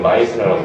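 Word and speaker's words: Meissner: 심지어는 내가 읽을 때는 메이스너라고 읽었는데 분명히 M2로 시작하니까 근데 책에는 마이스너라고 하더라고.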